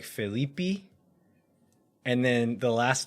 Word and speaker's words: Felipe: think the bra like the Portuguese pronunciation is more like phelipi and then the last